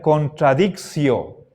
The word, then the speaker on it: contradictio: Verán, hay dos maneras de pronunciar esta palabra. ¿Cómo pronuncio la sílaba ti delante de vocal? Ti delante de vocal. Si leemos asimilando el latín al español, entonces esto se pronunciaría contradictio. Contradictio. En cambio, según los antiguos romanos, en el latín clásico, la pronunciación es contradictio.